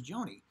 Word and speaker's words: Joni: attention by a person whose name rhymes with baloney. Yes, that's right. It was Joni.